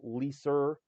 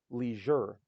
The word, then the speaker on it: leisure: the G and beige it's not liser or leer it's Leisure it's not beige it's beige that's the